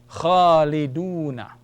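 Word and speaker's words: خالدون: Waw can only lengthen a dhamma sound. So it will give you the sound of oo, oo. So it's khalidu, khalidu. And let's say noon fatha is na. Khaliduna.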